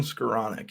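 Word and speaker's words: Skowronek: Is that how you pronounce him? Ben Skoranek, yep.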